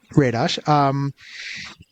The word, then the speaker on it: Radosh: with, humor writer Radosh, who, am I pronouncing that right, or is it Radosh? Mm-hmm. Yeah, Radosh, who has been a part of a couple of things.